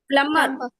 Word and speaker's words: plumber: Plumber. B is silent.